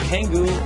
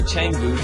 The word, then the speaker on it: Canggu: Now, number 2 on the list is a place called Canggu, and Canggu, or Canggu, depending on how you want to pronounce it, is definitely one of my most favorite developed areas in Bali.